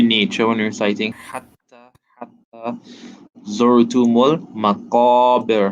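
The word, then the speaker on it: الْمَقَابِر: when reciting hatta zurtumul maqabir. Remember, qaf, round sound, right? A deep sound, not as flat as a calf. So maqabir, right?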